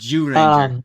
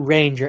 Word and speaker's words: Zyuranger: Morphin, the ZU Ranger, Yeah, ZU Ranger, it's pronounced Jew Ranger, like Zhu yeah, Ranger. like Jew, like dreidel, dreidel, dreidel Jew. Zhu Ranger.